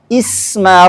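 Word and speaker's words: اسم: Ismun contoh empat dalam bait. Ah, itu contohnya adalah di surah ala'la ayat 1. Sabbihismaabbikal a'la. Maka kalau kita misalnya contohnya meminta murid berhenti ketika kita mengujinya, ayo bagaimana cara memul kata sabbih? Ah, maka langsung bacanya isma rabbikal a'la.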